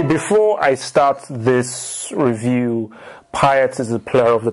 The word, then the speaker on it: Payet: All I know is that this guy, I'm going to say Payet because that's how it should be pronounced if it's French.